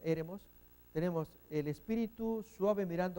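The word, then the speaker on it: ἔρημος: El acento acá, fíjense que es una palabra estrújula. Mos es la primera sílaba, se cuenta de derecha a izquierda para allá. Re es la siguiente y la E.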